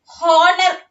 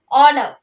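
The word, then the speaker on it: honour: ഹോണർ, ഹോണർ നമ്മൾ പറയില്ല, ഓണർ. എച്ച് is silent there. Cupboard, cup board എന്നല്ല പറയുന്നത്, കപ്പ് ബോർഡ് എന്നല്ല പറയുന്നത്, എന്താ പറയുന്നത്?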